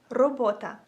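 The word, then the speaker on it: робота: So if you want to say work in Ukrainian, you would say it like robota.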